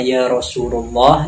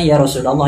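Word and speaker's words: يا رسول الله: ngerti lah setirnya gini ketika ia baca yarosululoh dibacanya Rosulullah dengan Ya Rasulallah yang benar dibaca Ya Rasulallah kadang dia baca yarosulullah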